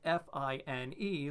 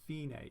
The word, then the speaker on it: fine: Spelled F-I-N-E, looks a whole lot like another word that we might know, but it's pronounced fine, Italian, fine, right?